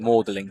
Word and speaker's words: Magdalene: They were I think you call it M it's spelled Magdalene but I think they call it Mlin College. Don't know why that's bizarre English spelling.